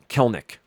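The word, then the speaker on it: Kelenic: the season um Jared Clinic still just uh I think I'm mispronouncing his name as well let's see quick quick to baseball reference kelnick Jared kelnick uh Jared kelnick has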